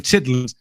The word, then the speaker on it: chitterlings: been I put in chitling often wondered uh what what that was I never researched it yes chitlin pronounced pronounced chit chitterlings c h TT r l i n gs they are pig intestines